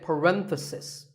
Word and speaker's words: parenthesis: If you talk about just one bracket, you say parenthesis. The stress is on ren.